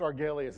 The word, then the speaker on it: Argelius: thank you it's pronounced arg Elias it's a made-up planet from an old Star Trek episode but it sounds like Greek and classy right like if I